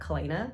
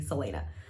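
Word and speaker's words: Celaena: I always called her Kalena, but I think it's actually Selena.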